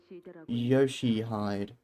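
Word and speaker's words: Ryōshū: Ryoshu? No, that's not how you read those letters. Yoshihide. That's how you say it.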